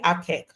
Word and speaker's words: APQEC: The acronym is pronounced APQEC. Okay, and but why APQEC?